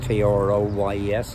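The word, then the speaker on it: Troyes: off down to troy t-r-o-y-s i think it's pronounced troy and we'll probably get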